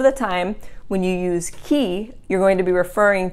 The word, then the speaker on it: chi: who, and that is chi. Chi, remember in Italian, when the C is followed by an H, it sounds like a K, and the I always sounds like E, so chi, not chi, okay?